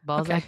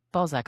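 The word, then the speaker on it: Balzac: Can you spell that for me, please? B A L Z A C. Ballzac Billy. And he's about 15 to 20 minutes from downtown Calgary in Balszac, Alberta.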